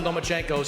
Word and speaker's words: Lomachenko: You are now the mandatory challenger for Vasyly Lomachenko's 135-pound title. Do you believe at 20 years old you're ready for that type of challenge? I think you said his name wrong. It's Lomachenko because he doesn't want to fight me.